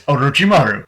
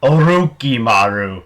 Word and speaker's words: Orochimaru: movie is Orochimaru, and the way you pronounce his name is Orochimaru. The way they pronounce his name in the version I watched, they pronounced it Oroki-maru, not Orochimaru, Oroki-maru.